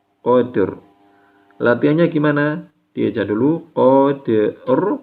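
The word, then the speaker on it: قدر: Qafnya tebal ya, huruf qaf berharokat fathah ini dibaca tebal. Kemudian dalnya tipis, kemudian roknya tebal lagi ya. Jadi bacanya qadr. Jangan sampai dalnya ke bawah tebal, qadr, enggak. Jangan sampai juga roknya terbawa tipis, qadr, bukan. Tapi yang tepat, qadr.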